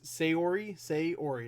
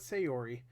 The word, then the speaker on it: Sayori: It's Sayori. It's just the two words, Say and Ori.